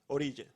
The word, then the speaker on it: Orilla: Orilla, Orilla.